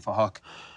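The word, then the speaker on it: Phuc: We're spelt with a PH, so it sounds like Fahok.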